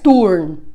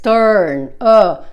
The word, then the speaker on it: turn: Cuidado que no es turn. No es turn con U. Es turn.